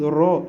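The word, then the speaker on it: ر: Pour dire le ra, d'autres disent ra, d'autres disent ro. Les deux, ça marche.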